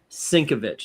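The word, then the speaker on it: Sienkiewicz: No matter how he tries to pronounce it, Sinkovich is the way you say it.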